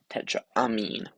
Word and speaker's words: tetraamine: It's got a double M, tetraamine.